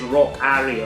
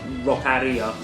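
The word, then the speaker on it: Rockaria!: there's various people like and pronounce this one differently i think it is rock harry or roccaria and yeah like yeah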